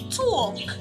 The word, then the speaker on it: talk: Letter L is silent in the word talk.